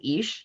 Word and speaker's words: Ix: So the pronunciation is Ish, easy to see.